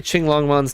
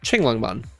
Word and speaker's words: Qinglongmon: How to say Qinglongmon's name? Like that, Qinglongmon. I'm probably butchering the accent entirely, but the way it would be pronounced would be Qinglongmon.